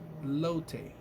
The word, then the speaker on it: elote: So, elote.